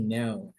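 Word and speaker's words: know: boleh dinyalakan ak k k-nya kan enggak dibaca ya bukan k tapi no Oke e apaagi ya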